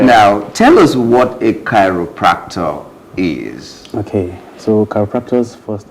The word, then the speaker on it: chiropractor: In fact, when I saw the name, first of all, I was calling it Chiropractic. But that's not how it is pronounced. It is called chiropractor.